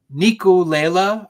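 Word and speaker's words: Ngiculela: So I don't know if I'm saying it right. I've been searching pronunciations the whole time, but Nico Lela, I believe is how it's pronounced.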